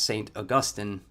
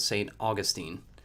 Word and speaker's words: Saint Augustine: no this yeah the the saint is pronounced saint augustine the city in florida is called saint augustine it's really confusing yeah um that's how